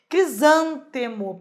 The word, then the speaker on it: crisântemo: Crisântemo, perfeito. Uma palavra proparoxítona, o zan é o mais forte.